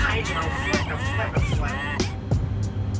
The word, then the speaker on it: hydrofluosilicic: That's not how you pronounce it. It's hydrofluosilicic.